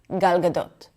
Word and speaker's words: Gal Gadot: There's a lot less jaw movement. Everything is super chill and relaxed. Galgadote. Galgadot. It's kind of like we don't want you to read our lips when we speak.